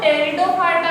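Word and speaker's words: Pteridophyta: अब देखो तो टेरिडोफाइटा को जब इंग्लिश में लिखते हैं ना तो स्पेलिंग PET से चालू होती है। ये ध्यान रखना, जब इंग्लिश में लिखा हुआ मिलेगा ना तो T से चालू नहीं होती टेरिडोफाइटा की, ये दोनों साइलेंट रहते हैं।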